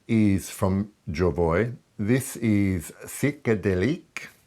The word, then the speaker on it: Psychédélique: This is Psychédélique. I'm trying to pronounce it in the French way, but I'm sure it's butchered.